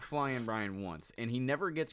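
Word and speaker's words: Flyin' Brian: a huge pronunciation Guy Brian pillman's name is flying Brian no G okay yeah and I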